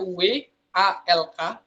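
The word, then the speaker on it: walk: tidak terbaca ya Jadi kalau spellingnya itu jadinya w a l k tapi l-nya tidak terbaca kita bacanya dua atau klik slowly jadi itu artinya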